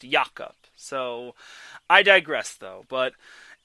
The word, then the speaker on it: Jakob: I just need to make a point that Jakob Silverberg's first name is not pronounced Jacob. It's pronounced Jakob.